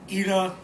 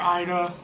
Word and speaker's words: Ida: It's about a couple named Albin and Ida, or Ida. It's pronounced Ida in the film.